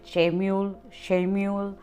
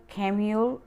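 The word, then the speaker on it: Chamuel: यहाँ पर कोई इसको यहाँ पर कई लोग आर्केंजल खेम्यूल को आर्केंजल शेम्यूल अलग अलग नामों से इनका प्रोनाउंसिएशन होता है, पर हिब्रू और जो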